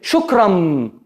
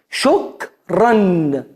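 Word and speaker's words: شكرًا: Como está muy cercano la pronunciación, muchos dicen shukram, no, no es shukram con n al final. Shokran shokran es un tenuín.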